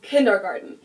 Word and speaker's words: Kindergarten: Start with one of the most known ones and that is kindergarten. In German, we pronounce it kindergarten and it literally means children's garden.